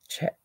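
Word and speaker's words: Czech: it is yes z z Tech CZ Republic pronounced check yes that is the glass yes you are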